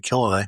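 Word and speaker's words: Killilea: I think, is that how you pronounce his name? Right, Killalay.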